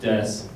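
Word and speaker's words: です: And if you know a little bit about Japanese, then you may be wondering why des is pronounced just des.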